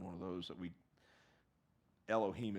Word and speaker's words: Elohim: of those that we Elohim is how it's pronounced in the Bible and it that says